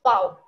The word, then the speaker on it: V: So just remember that is fau. It's pronounced as fau.